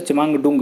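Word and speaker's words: Chemayungdung: ब्रह्मपुत्र का कहाँ पे उद्गम स्रोत है, अब देखेंगे चिमांगडुंग, इसका थोड़ा प्रोनाउंस है चिमांगडुंग, इसको प्रोनाउंसिएट करते हैं, तिब्बत में स्थित है, वहाँ पे इसकी शुरुआत होती है।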